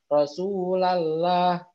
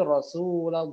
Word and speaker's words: Rasulullah: atau besar Rosulullah murotul Oh jadi bukan Rasulallah bingung tapi Rasulullah Oh begitu ya gitu